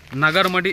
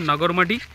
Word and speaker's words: Nagarmadi: হচ্ছে সম্পূর্ণ একটা অফবিট নাগার মাটি ওই দেখ আরামস আরামস আরামস নাগার একচুয়ালি আমাদের বাংলাতে উচ্চারণ করলে হবে নাগরমাটি আর হিন্দি বা ইংলিশে